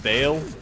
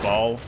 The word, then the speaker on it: Baal: It's uh it's the former it's pronounced Bale. I I say Ball.